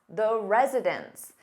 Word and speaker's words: residents: But when you have an S on that noun, meaning more than one, it sounds exactly the same as residence, which is a place where someone lives.